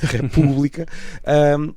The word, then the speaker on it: República: o acento na República, quando a sílaba tónica não é o ré, é o pu, não é? República.